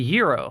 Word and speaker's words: gyro: A gyro, half eaten. And yes, that's actually pronounced gyro, or I believe it's pronounced gyro rather than gyro.